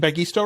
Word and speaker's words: Bagisto: Patek uh from uh bagisto right am I pronouncing bagisto right yes that's right I guess awesome awesome